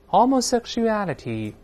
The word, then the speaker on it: homosexuality: 后面这个同性恋，咱们跟老师也大声来读一遍，homosexuality。